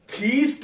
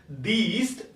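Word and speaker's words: theist: अब ये वर्ड देखें बच्चे, सबसे पहले कई बार हम इसकी प्रोनाउंसिएशन थीस्ट और अथीस्ट करते हैं। तो इसकी प्रोनाउंसिएशन थीस्ट और अथीस्ट नहीं है। इट इज दीस्ट एंड एदीस्ट।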